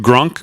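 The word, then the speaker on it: Grok: that how you pronounce it grock is it grunk grock on Twitter Fran their uh AI model yes that's the name of it grock right so I just said I just typed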